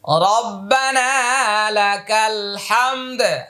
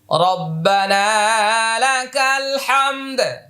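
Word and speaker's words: رَبَّنَا لَكَ الْحَمْد: যোগ করে ওয়ালাকাল হামদে সেটাও বলা যেতে পারে রব্বানালাকাল হামদ হামদ হামদ রব্বানালাকাল হামদ আমার সাথে বলুন আরেকবার রব্বানালাকাল হামদ হামিম জবর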